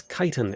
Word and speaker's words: chitin: Google has chitin as the official pronunciation for British and American. Chitin. Chitin.